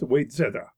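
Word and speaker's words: Wayzata: north bay is the original of waisetta pronounced wait zera end of section 46.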